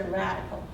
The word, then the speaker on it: radicle: This is the radicle, and that's the root. But it's kind of like radical, dude, but it's spelled differently.